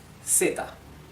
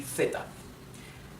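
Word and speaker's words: zeta: no sound like food everything is pronounced like a simple s okay so since I'm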